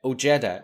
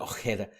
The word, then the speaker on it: Ojeda: gets beaten up by Ojeda. Actually, that wasn't too bad. That was good. I was going to say Ojeda as it's spelled, but Ojeda.